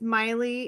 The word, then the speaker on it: Maile: name is Maile. It rhymes with smiley. It's spelled like Mai Tai because it's Hawaiian.